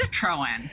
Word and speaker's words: Citroen: let you say your last name because i butchered it after i practiced oh you did great it's citroen so well you know i think it's important